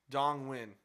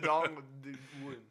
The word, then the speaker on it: Dong Nguyen: Dong Win. Dong Win. Yeah. Okay, I guess Downwind? NG together is a W. It is Dong Win.